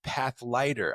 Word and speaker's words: Pathlighter: I keep calling it Pathfinder. It's path lighter.